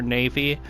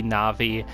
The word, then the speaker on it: Navi: best way you can i always called her navy i know now with the japanese language that it would be navi but i can't change